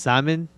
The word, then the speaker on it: salmon: to the downside today don't pronounce the l in salmon just salmon ah whatever if i